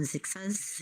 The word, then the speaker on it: Zixha: Yardy, how do you pronounce that? I don't know. Zixha's.